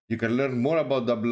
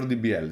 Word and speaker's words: DBL: Is DBL DEX pronounced double or DBL? It's pronounced double.